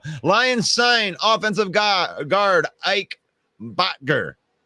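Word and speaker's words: Boettger: Lions sign offensive guard Ike Bottinger. Boatger. Steve told me how to say it yesterday, and I like this guy.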